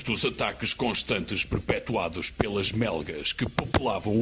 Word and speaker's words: MełgA: Inicialmente formados como um projeto de estúdio na Polónia, os Melga, às vezes pronunciado Melga, mas também ninguém se chateia se pronunciarmos Melga, tinham o seu supracitado estúdio num barraco no meio dos pântanos polacos.